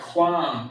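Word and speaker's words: QAM: I'm sorry, quam is what rise actually means in Hebrew. So Q-A-M means quam, which means to rise, like the sunrise.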